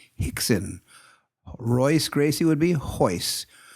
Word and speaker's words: Rickson: And so they pronounce their R's as H. Ergo, whenever you speak to somebody from Brazil who speaks to, if you were to look at Rickson Gracie, you would call him Hickson.